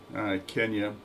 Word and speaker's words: Kenya: Kenya is how you pronounce the country's name.